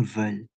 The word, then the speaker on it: veulent: Ini bacanya veulent.